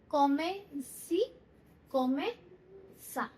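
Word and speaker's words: comme ci comme ça: Last में एच की sound आएगी, सा, ह की साउंड आ रही है।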